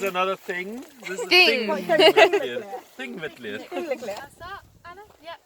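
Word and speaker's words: Þingvellir: So it's a pronounced TH in the beginning, yeah? And a double L becomes to a DL, so it's Thingvellir. Thing, no P, Thingvellir.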